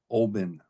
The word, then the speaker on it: Olbin: Then there's Depot 4, which is spelled B-O-R-E-K, Barek. And then there's Depot 2, Olbin, O-L-B-I-N.